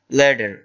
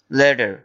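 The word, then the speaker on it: letter: আর যদি এটাকে আপনারা আমেরিকান উচ্চারণে করতে চান তাহলে বলবেন লেডার। লেডার অর্থাৎ ডবলটি ডি উচ্চারিত হবে, লেডার।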